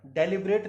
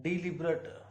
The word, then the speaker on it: deliberate: रहे हैं यहाँ पर, तो ये वर्ड डेलिब्रेट नहीं है माय डियर। तो प्लीज ध्यान से नीचे देखेगा, नीचे हिंदी में लिखा हुआ है डिलिब्रेट। इसे सही प्रोनाउंस किया जाएगा डिलिब्रेट, क्योंकि हम हर लेटर